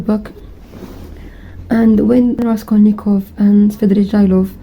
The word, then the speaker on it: Svidrigailov: And when Raskolnikov and Svidrigailov, I just realized his name is Svidrigailov, not Svidrigailov, and I was saying it wrong this entire time.